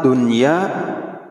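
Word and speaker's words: دنيا: huruf yang dilipat gandakan maka kalimat Dunya dibaca izhar begitupun kalimat inwa dibacanya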